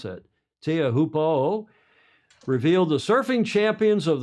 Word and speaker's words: Teahupo'o: on the Tahitian beach of, how do you pronounce that? Teahupo'o.